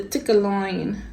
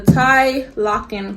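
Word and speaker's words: Tielocken: whatever, Thomas Burberry now patents the tickle-loin. No, that's not how you say it. The tie locking coat.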